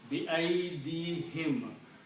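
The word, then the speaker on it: بأيديهم: word is whom here, but for tajweed, for easy in pronunciation, we pronounce as him. So everything is kasra. It is easy to pronounce if the flow is same.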